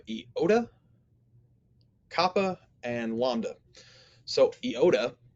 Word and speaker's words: iota: copper and lambda so iota is pronounced like the i in intrigue so he points out here it kind of has two different ways to pronounce it you've got our traditional short i sound and then you also have sort of a long e sound it can be either one of those next we have kappa